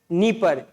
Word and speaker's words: नीपर: नीपर। Spelling इसकी डी से start होती है तो कंफ्यूज मत होना।